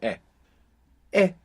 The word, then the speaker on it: he: versions let's start with e all by itself means I have it's spelled h e and of course we have the silent h there from Aber in e h e I have we